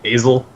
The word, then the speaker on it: Asil: It's like a long A. Asil.